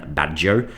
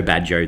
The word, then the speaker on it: Baggio: In Portuguese it's called the divine badjo. In French it's the divine ponytail. The art of the goal by Roberto Badjo. In Czech, it's Badjo, the divine braid. In German, it's Bajjo, the divine pigtail.